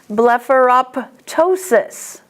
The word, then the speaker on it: blepharoptosis: If it's in the middle, you have to pronounce it. Hemoptysis. Blepharoptosis.